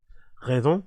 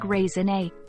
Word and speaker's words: raisonné: How do you pronounce that? Raison? Have you ever heard of the term catalog raisonné? Raisonné, oh raisonné, no raison.